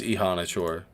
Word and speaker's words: Ihanachor: It is Ihanachor. It is Ihanachor. Alright, so I'm wrong.